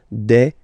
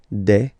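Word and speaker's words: des: and then you just add this S at the end and as we said you don't pronounce it so you get de okay de so un singular and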